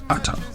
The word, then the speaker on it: eta: It's a Greek letter, eta, written as eta, but pronounced as ata. So, ata fan is equals to WA uh P input.